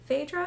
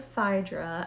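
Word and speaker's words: Phaedra: And then also her sister, Fedra or Fyra. I've heard it pronounced both ways depending on where in the world someone is from.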